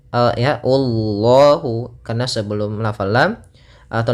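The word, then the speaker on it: الله: Kemudian pada lafal Allah di sini lafzul jalalah dan lamnya dibaca dengan tebal, lam tafkhim. Ya, Allahu, karena sebelum lafal lam atau lafal Allah ada huruf dhammah.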